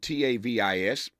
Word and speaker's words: Tavis: we will catch up to Iowa County Supervisor Tavis Hall spelled t AV i s only person I know like that Tavis is how you pronounces it uh tavus Hall will join us